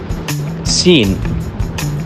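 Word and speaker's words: سين: Seen. It is similar to the S but it is pronounced in more sharp tone.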